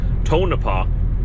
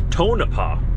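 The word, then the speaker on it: Tonopah: Manitoba we went all the way down to tonapa that's how you pronounce it now that I've read all of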